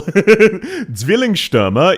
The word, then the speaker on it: Zwillingsstürmer: Zwillingsstürmer? Yes, it is. What do you mean, Zwei? That is how you pronounce it.